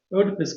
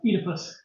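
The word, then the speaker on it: Oedipus: consequence of an unresolved odipus complex that causes him to regard the photographer as if she were his own mother, especially when she makes pancakes. Technically, it's pronounced Edypus.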